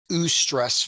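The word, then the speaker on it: eustress: um the official terminology terminology is ESS versus distress now that's U is spelled EU stress and then distress dis stress so ESS and distress ESS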